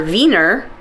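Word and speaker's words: Wiener: w i n so V or vener is viones so it looks like weener to us but that's not how it said and it's gotten a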